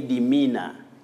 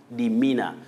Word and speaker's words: demeanor: You say demeanor. Demeanor. The E and A after M represent the long sound E. Me. Mina. Don't say demeanor.